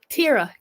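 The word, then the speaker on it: Teara: I know how it's said, but I see it, and I just want to say Tyra, but I know it's Tara.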